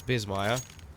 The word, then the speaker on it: Bissmire: my second name is Bissmire. And, well, I would have put Tom Biss, like with S, but then people would have said Biss. So I changed it to Z so they pronounce it properly.